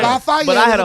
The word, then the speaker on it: Lafayette: Lafayette. Lafayette. Lafayette. You put the fay in it. Well, yeah, it's the French. That's from the the way French. it That's should the be proper pronounced, spelling. right? Lafayette But I is had